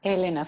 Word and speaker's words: Elena: yeah but in spanish in spanish it is elena in spanish you would read it elena ferrante with the accent with the accent on the second syllable but you would still say elena because she's italian yeah you you don't